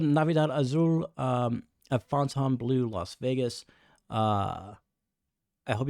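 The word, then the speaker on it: Fontainebleau: lot of comments like stop calling it fonton blue fonton blue I mean the F the French pronunciation of that is correct the way I'm doing it but anyways uh it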